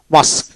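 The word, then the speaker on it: masque: জি এ RD guard এভাবে উচ্চারিত হবে ইউটা সাইলেন্ট থাকবে তারপরে মাসক মাসক মাসক এম এ এস কিউ মাসক মাসক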